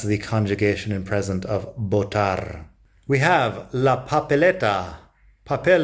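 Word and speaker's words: votar: verb to vote is botar notice that the V generally sounds like a B in Spanish I think that's a bit Regional but around here it's pretty common to pronounce it that way botar and botar incidentally is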